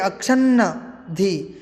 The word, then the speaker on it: अक्षन्नद्धि: देखिए अक्षन्नद्धि, अक्षन का एक न है और नद्धि अक्षन्नद्धि, इस प्रकार उसका उच्चारण किया जाएगा।